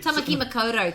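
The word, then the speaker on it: Tāmaki Makaurau: Can you say it like a Kiwi, please, and don't be so... So basically... Tamaki Makoto, thank you very much.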